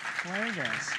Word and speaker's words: Klages: Our creative team, our producer, Scott Griffin, our director, David Hudson, and our resident director, Klages. Yeah. Pronounced with a. Yeah. Klages.